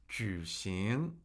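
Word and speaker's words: 举行: Juicing. Juicing. Juicing. That's third tone second tone.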